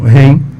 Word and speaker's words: REM: A melatonina só pode ser prescrita cientificamente em duas únicas situações, que é o transtorno do sono REM, ou REM, depende da pronúncia de cada um, que é um distúrbio neurológico muito específico, não é essa dinâmica.